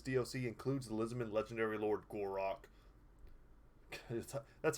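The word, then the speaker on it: Gor-Rok: released alongside this DLC includes Elizabeth legendary Lord gorac that's how you have to say his name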